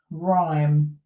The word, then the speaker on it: rhyme: So here the Y is an I sound, and then you've got this RH together. Okay, so the H is silent, rhyme.